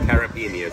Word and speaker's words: caipirinha: Caipirinha. So I can't pronounce it.